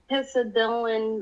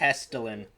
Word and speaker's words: Hessdalen: to talk about the hisa dylan light i think i'm pronouncing that right i might not i'm sorry i think it's pronounced hesterlin yeah so yeah we're going to be talking about the hesterlin lights which are unexplained